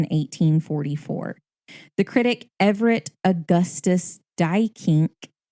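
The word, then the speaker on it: Duyckinck: The critic Everett Augustus Dykink, that is how you say it, not how it's spelled.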